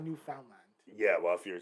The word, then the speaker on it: Newfoundland: Oh, like, I feel like some people say like Newfoundland is Newfoundland. Newfoundland. It's not Newfoundland. Yeah, well, if you're saying like phonetically, of course it's Newfoundland, but we don't say words like that.